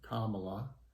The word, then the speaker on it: Kamala: and kamala harris and her first name is pronounced kamala she was also nominated and you know lots